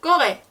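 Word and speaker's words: Corée: 예를 들어 악성 떼규 이 방향에 오면 한국 하면 꺼레, 라꺼레거든요. 꺼레에도 지금 으 위에 악성 대규가 있죠. 그래서 꺼레, 이 한국어로 에 발음이 나오는 거예요.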